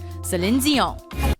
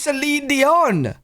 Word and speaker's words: Celine Dion: Celine Dion. Oh, wait, is that how you say your name? I thought it was Celine Dion.